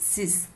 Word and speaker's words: six: Six is six only, but we pronounce it sis.